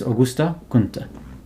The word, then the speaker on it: Auguste Comte: So some people usually just pronounce it Auguste Comte, but of course in the French it's Auguste Comte.